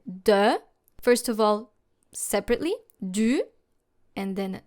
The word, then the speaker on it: du: First of all, separately, du, and then de. Make sure to make two different sounds, u and e, and then closer to each other. Du, de, until you can clearly hear the difference.